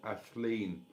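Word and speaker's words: Aisling: Uh Ruth aling it's spelled. But in if she was Irish that would be pronounced Ashen.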